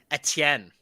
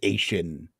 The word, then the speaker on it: Etienne: It's a French last name, and as a I remember Canadian, we must pronounce French words correctly. I remember everybody trying to galaxy brain like his pronunciation, like Travis Asian, and it just did not work out.